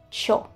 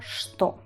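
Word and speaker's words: что: casi todos los pueblos, se dicen cho. Directamente se dice cho. Si escucháis algú alguna vez decir el cho, esto es igual a sto.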